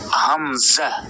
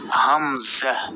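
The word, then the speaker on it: همزة: এরপর দেখুন এটা হচ্ছে হামজাহ এই হামজাতে কোন টান দেয়া যাবে না হামজাহ হামজাহ হামজাহ হামজাহ অনেকে হামজা বলে আসলে হামজাহ হামজাহ এরপর দেখুন ইয়া ইয়া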